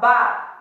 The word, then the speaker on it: barre: Esta clase se llama bar, así como lo ven en el cronograma semanal, se escribe barre.